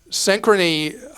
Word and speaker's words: Synchrony: you know who the issuer is it's um synchrony all right the one I always mispronounce is synchron Right synchrony has a horrific